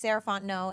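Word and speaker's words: Sarah Fontenot: again my name is sarant no and you can find me at Miz saraon no so Ms s a r a h fo o n t n o t the t is silent um that's me on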